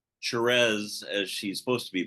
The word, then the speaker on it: Thérèse: And thank you for pronouncing Therese as she's supposed to be pronounced. I am from Louisiana, so we have that French influence.